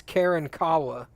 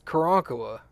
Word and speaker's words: Karankawa: in South Texas, Karankawa, is very commonly mispronounced as Karen Kawa. And you're like, it's not Karen Kawa. It's Karankawa. You're putting way too much emphasis on way too many letters.